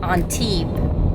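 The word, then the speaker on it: Antibes: largest marina in europe on t and it's pronounced on t without the s at the end i always screw that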